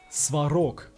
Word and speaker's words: Svarog: he so thick damn sok's glorious name is pronounced sarok remember no American ARs and Russians are kind